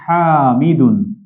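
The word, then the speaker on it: حامض: আচ্ছা, তাহলে এই জন্য আমরা টকের আরবি জেনে নিচ্ছি হামিদুন। হামিদ, এটা কিন্তু দাল নয়, দদ, হামিদ, এই জন্য আমরা দর নিচে ব দিয়েছি।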